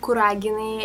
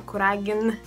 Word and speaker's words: Kuragin: is balona then we have the family of kuragin and here we have y vas kurina and